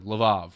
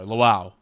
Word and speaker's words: Lviv: all effectively evacuate Kiev and probably go to Lviv or Lvov or Lwów, depending on how you pronounce it in Russian, Polish, and Ukrainian.